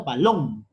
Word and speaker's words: balón: Por ejemplo, tenemos la palabra balón. Cuando pronunciamos, es necesario exagerar. Y te vas a dar cuenta en esa exageración dónde está la fuerza de voz. Balón. Fuerza de voz en la sílaba lón.